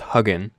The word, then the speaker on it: Hugin: internet just type in it's actually pronounced hugging just type in hugging